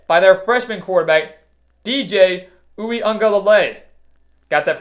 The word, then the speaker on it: Uiagalelei: They were led by their freshman quarterback, DJ Uiagalelei. Got that pronunciation right this time. DJ Uiagalelei.